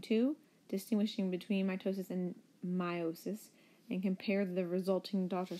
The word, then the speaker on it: meiosis: today's fun is over mitosis verse meiosis it's pronounced meiosis like that is a long I instead of